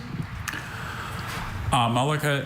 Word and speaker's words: amalaka: Amalaka is a bulbous or melon-like ornament terminating the shikaras of medieval Indian temples.